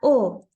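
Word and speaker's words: を: como u de warach este es partícula o y solo sirve para eso se escribe como w o pero ya sabemos que le quitamos la w o Y por último tenemos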